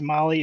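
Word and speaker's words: Mahle: for those podcast listeners Molly is spelled m ahle e all right well this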